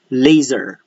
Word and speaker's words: laser: Laser, spelled with an S, but the pronunciation is a Z. So you pronounce it as laser.